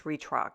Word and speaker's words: Retrock: store in Budapest and I believe it's pronounced re retrack I think it's Retrock that's what it is and it's super